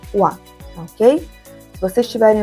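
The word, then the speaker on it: は: Partícula wa a gente escreve com ra e pronuncia wa.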